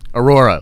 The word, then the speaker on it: Aurora: Aurora, like I said. Trev's over there pronouncing it Ahura like an idiot.